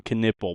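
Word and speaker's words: Knueppel: It is Con Knipple, by the way. It's kind of spelled like Knuppel, pronounced Knipple.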